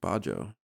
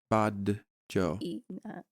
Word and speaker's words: Badejo: That's just Bajo. Is it Bajo? No, wait. No, there's a D in there. B-A-D. Yeah, Badejo. E-J-O. Oh, Badejo? I feel so bad for getting his name wrong.